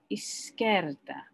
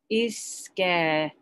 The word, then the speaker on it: izquierda: Okay, so I kind of tend to break it up. Izquierda. Izquierda. Bit like, boom, I'm so scared, okay?